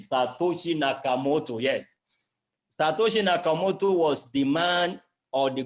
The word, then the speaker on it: Satoshi Nakamoto: nagging problem like I said until when again Satoshi nakomoto that I want to be sure I'm not mispronouncing the name Satoshi Nakamoto yes was demand or the group of men